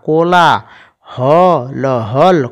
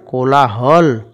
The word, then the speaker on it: কোলাহল: কিভাবে পড়বো কয় ওকার কো ল একার লা কলা হ ল কোলাহল হাঁসগুলি ভেসে ভেসে করে কোলাহল পয় চন্দ্রবিন্দু আকার পা দেখো এখানে উচ্চারণটা আমরা একটু নাকের মাধ্যমে করবো পয় চন্দ্রবিন্দু